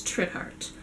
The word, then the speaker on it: Trithardt: So the way I pronounce this name is Trithard.